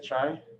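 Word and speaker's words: Xi: i i don't know what about x-i x-i is chai chai let's use chai oh god i i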